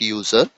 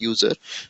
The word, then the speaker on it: usr: UNIX sharable resources so I personally don't like uh pronouncing it user many uh experienced people or very high level people also pronounce is user but I personally uh feel it calling it a separately USR instead of calling user as it may give